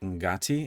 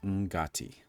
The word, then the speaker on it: Ngati: And she pronounces it Ngati, and that's all I'm going to say about that for now. I just wanted to make sure I brought that up. It's pronounced Ngati.